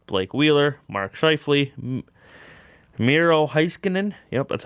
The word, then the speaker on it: Heiskanen: The Central Division, Patrick Kane's playing, Nathan McKinnon, the captain, Mikko Rantanen, Ryan O'Reilly, Blake Wheeler, Mark Scheifele, Miro Heiskanen, yep, that's how you say it, Roman Josi, Devin Dubnyk, Pekka Rinne.